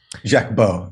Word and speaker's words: Jacques Baud: And Aaron Mate, recently you interviewed the Swiss intelligence officer Jacques Baud. Is that how you say his name? Jacques Baud, yeah. But you say, listen, Jimmy, I much prefer your pronunciations than the actual way.